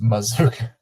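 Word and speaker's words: Mazzuca: you pronounce it no way CUA and it's pronounced mazooka offerson say mazooka and it's SP Maz Kua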